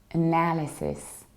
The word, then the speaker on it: analysis: analysis so what happens I reduced the very beginning I don't say I don't say air I don't say a I say oh then I stress now and now then live and cyst not as this not as this like Zisk but sis like sister is analysis analysis and in